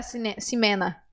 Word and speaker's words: Ximena: você não sabia que o nome dela era simena como é que você não sabia se você